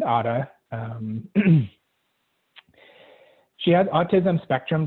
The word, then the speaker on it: Ara: is my daughter um her name is otta spelled a-r-a but we pronounce it otta um she has autism